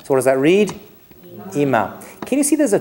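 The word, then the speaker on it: אמא: It could be ima, which if you're an American tourist in Israel, is probably how you pronounce it, but that is incorrect. It's ima. Right, the emphasis goes on the m.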